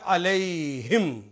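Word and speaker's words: عليهم: जब दो नुक्ते लगाए तो ये प्रोनाउंसिएशन हो गया अलैहिम, उन सब पर।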